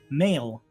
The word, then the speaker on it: Mael: Mael. Mael. Yeah, like the word male.